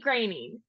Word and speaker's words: Groening: first time the lovely grainy welcome to the podcast thank you Nicole and excellent pronunciation of my last name I know there's always